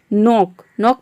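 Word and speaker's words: knock: नॉक मतलब होता है खटखटाना।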